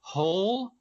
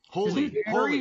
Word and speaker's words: Hole: hero's name is Harry Hole holy holy I'm sorry it was Harry Hole in the movie I've always pronounced it Harry holy like it's Norwegian - so it's not